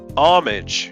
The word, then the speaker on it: homage: h er be e same with homage but the French spell it h ow mm a GE and say it to rhyme with garage not the british way of saying garage though with niche the